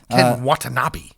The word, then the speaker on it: Ken Watanabe: Ken Watanabe. Yes, that's a better way to pronounce it.